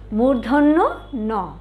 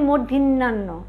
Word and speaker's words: মূর্ধন্য ন: মূর্ধন্য ন, সাথে কিন্তু নটা বলেছি, পুরাটাই এভাবে বলতে হবে, মূর্ধন্য ন। অনেকে আমরা বলি মূর্ধন্যান্ন, এটা কিন্তু না, এটা কি হবে? মূর্ধন্য ন।